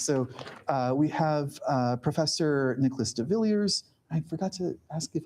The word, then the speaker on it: de Villiers: Yes, so we have Professor Nicholas de Villiers. I forgot to ask if I'm pronouncing that correctly. Yeah, de Villiers. Okay. You don't have to do the French pronunciation.